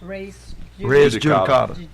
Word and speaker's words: res judicata: Okay, and so how is this pronounced? Res Judicata.